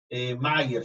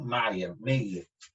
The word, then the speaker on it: Meyer: Mayer se pronuncia, ¿no? Meyer. Correcto, y sostuvo que todos los elementos serían compuestos de hidrógeno.